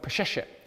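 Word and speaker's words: Peseshet: Back then, including, if you put into your internet search, a word called Pesheshet, which is spelt exactly as it sounds, you will see that there was a government position called the Chief of Female Physicians.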